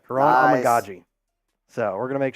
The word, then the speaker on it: Kiran Amegadjie: name now just so I get it right, Kiran Amegadjie. We're going to make sure we get that right. Kiran Amegadjie.